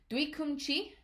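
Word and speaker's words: 뒤꿈치: The next one is Duikumchi. All right. Oryo chagi. So just like in bagatare chagi, that duikum, all right, has that same double G, that stressed G sound at the start of that syllable.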